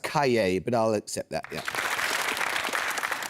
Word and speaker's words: Cahiers: The same word precedes Dinema in the name of a journal founded Trinity Merchant Cah. Yes, it's pronounced Cay, but I'll accept that.